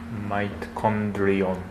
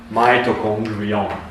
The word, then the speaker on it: mitochondrion: Mitochondrion. Mitochondrion. Yes, it's a little bit difficult, but this comes from the Greek, right? So mitochondria. Mitochondrion. This is hitotsu. This is takusan. Okay. One mitochondrion, many mitochondria.